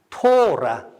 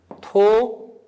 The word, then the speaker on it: 토라: 그래서 이게 보면 이게 우리 발음을 하면 이게 라. 이 거꾸로 쓰려니까 참 어렵네요. 라. 예. 완전 이상하지만 예. 토라. 예, 다시 써보겠습니다. 토라. 히브리어로 토라.